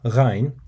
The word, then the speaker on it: غ: And with ghayn, you basically position the end of your tongue to the back of your mouth, like you would when pronouncing the letter G in the English word go. However, you would need to leave enough space between the back end of your tongue and the end of the mouth to allow air to